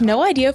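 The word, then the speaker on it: Know Idea: Search No Idea 4ZZZ on your favourite podcasting app. That's spelled KNOW, like no idea.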